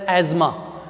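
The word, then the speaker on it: asthma: The correct pronunciation of the word अस्थमा इज नॉट, the word is correctly pronounced as एज्मा। हम इसको क्या बोलते हैं, एज्मा बोलते हैं, अस्थमा नहीं बोलते।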